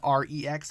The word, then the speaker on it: Rex: It is the Ronin Rex, or the Ronin REX, however you want to pronounce that. He calls it Rex, so I call it Rex.